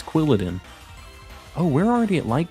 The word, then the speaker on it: Quilladin: say quiladen how do people say that it's quilladin oh we're already at light goal what the